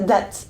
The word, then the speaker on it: date: non plus date, donc cette fois-ci avec la prononciation anglaise, date revient chez nous et détrône le rendez-vous amoureux.